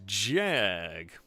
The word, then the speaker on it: Jag: Shady Brady, thank you very much for the donation, saying the correct pronunciation is Jag.